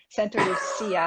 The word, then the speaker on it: Santa Lucia: Spanish named it, not the Italians. Okay, so stop pronouncing it with that Italian CH after the C. Okay, I stand corrected, Paul. Never again. Santa Lucia Highlands.